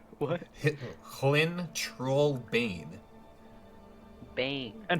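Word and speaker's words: Hlin Trollbane: chat, but it's Hlyn Trollbane. Clean troll. Lynn Troll Babe? What? Hlyn Trollbane. Bane. And how do you spell that?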